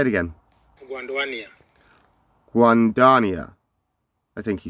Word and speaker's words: Guanduania: got a video here three seconds long okay pronunciation say it again Juan Dania I think he said guandania is that right guandania yeah I guess I'm close enough so this